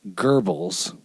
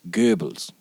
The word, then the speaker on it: Goebbels: And so it's like the name that most Americans mispronounce as Goebbels, right? It's not how you say it. Right. It's spelled in Romanized English. It's G-O-E, BB whatever. The O-E means that originally it was one character, which was an O with an umlaut, and that's Goebbels, right?